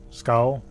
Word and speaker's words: skull: there's also the jade school here that i need for the museum can you just really you know pronounce it normally let's go skull because right now it says like you're going to school oh that's the way